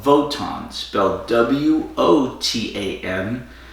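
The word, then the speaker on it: WOTAN: is a computer called votans about wot a.m. they're using an alternate pronunciation for the W which was because the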